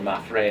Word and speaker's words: Maffre: And that's Muriel Maffre, or Maffre is the way people pronounce it here.